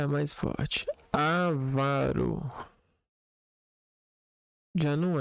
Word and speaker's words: avaro: É frequente ouvirmos a pronúncia avaro, rúbrica e púdico. Ávaro, rúbrica e púdico. Vamos para Vamos pegar esse texto aqui para entender. as pronúncias a varo, púbrica e púdico como próparoxitas. Foi o que aconteceu comigo. Porém, como elas não recebem acento gráfico, devem ser pronunciadas como paroxítanos.